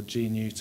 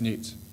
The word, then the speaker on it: Gnewt: for pronouncing it correctly everyone always pronounces it incorrectly good news or g-nute or I keep finding myself saying no no it's Newt no Newt okay just say